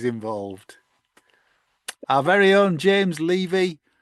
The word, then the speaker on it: Levy: Our very own James Levy, pronounced as in took the Chevy to the levee, always beyond knowledgeable and a very welcome bonus or exclusive.